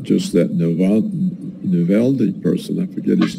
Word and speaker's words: Navalny: It's not just that Navalny person, I forget his name, how do you pronounce his name?